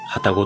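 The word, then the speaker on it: 旅籠: 旅にカゴと書いて旅籠と読みます。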